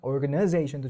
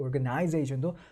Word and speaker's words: organization: organization도 좋고 organization도 둘 다 맞는 발음인데 근데 이거를 강세가 2개라고 해서 2개가 같은 3개가 아니라는 거죠. organization 이렇게가 아니라 organization zation이 훨씬 더 센 강세를 가져가게 된다는 겁니다.